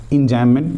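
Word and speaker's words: enjambment: एंजाममेंट means यहां पे बी जो होता है ना साइलेंट रहता है।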